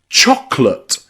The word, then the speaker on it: chocolate: This is the same with words like chocolate. We don't really say chocolate. We say chocolate. The second O in there, we delete. We delete and don't use chocolate.